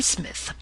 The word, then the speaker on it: Psmith: are you I am Smith said the old aonian reverently there is a preliminary P before the name this however is silent like the tomb compare such words as